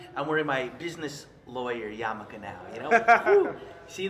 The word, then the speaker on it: yarmulke: wearing my business lawyer yarmulke now. You know, Woo. See the shift? Looks the same. What is it called for people who don't know? Oh, this is called a yarmulke. Yarmulke. It's spelled Y-A-R-M-U-L-K-E.